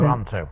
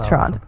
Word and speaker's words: Toronto: taking special care to Toronto. Yes. To annunciate. Um, there's only one T in her pronunciation and both the vowels are O's. I think Toronto.